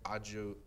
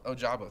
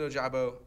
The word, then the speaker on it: Ojabo: alternate picks i had david ojibo david oh jabo thank you i said it right correctly earlier i couldn't say no david ojabo dian from michigan raw